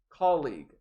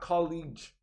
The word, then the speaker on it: colleague: co-worker notice the pronunciation it is colleague not college it is colleague i